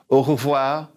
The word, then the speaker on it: au revoir: you see you're here sometimes people say au revoir au revoir and I've heard some people say both while oh wow it kind of runs together so you'll hear it both ways all right see you